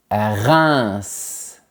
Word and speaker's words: Reims: E-I-M se prononce comme I-N. On dit Reims.